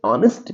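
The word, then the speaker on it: honest: ही इज ऑनेस्ट person अब जो ऑनेस्ट का एज जो है वो तो साइलेंट है ओ की आवाज निकलती है वल की आवाज आती है तो हम एन का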